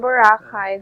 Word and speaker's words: Boracay: That's pronounced as Boracay.